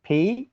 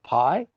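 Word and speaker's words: π: And the P, which you probably call pi, but in Greek we call it P.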